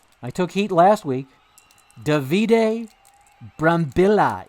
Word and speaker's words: Davide Brambilla: Davide Brambilla is the correct way to pronounce it, I'm told.